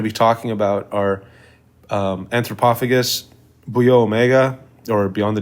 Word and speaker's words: Antropophagus: are you calling it all weird like that anthropophagus I what isn't that the title anthropophagus no no it's anthropophagus oh yeah whatever well that maybe that's the